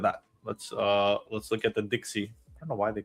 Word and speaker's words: DXY: Let's look at the Dixie.